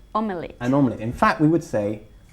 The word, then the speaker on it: omelette: Se escribe omelette, pero lo pronunciamos como omelette, como dos sílabas.